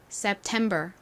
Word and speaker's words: September: 한 번 더 해볼게요 September 여기 템 부분에 강세가 있어요 September 자 같이 적어 볼게요